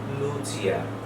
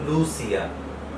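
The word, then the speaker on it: Lucia: স্টেশনের নাম হচ্ছে ভেনেৎসিয়া, ভেনেৎসিয়া সান্তা লুচিয়া। এবং সি দেখলে আমরা সাধারণত চ চিন্তা করি না, আমরা হয়তো এটাকে পড়তাম লুসিয়া। তো এটা ইটালিয়ানে লুচিয়া, এবং জি এর জন্য উচ্চারণটা হচ্ছে ভেনেৎসিয়া, খণ্ডত্ব এবং স।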